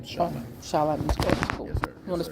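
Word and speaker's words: Shalite: My artist name is Charlotte. Charlott. You want to spell it?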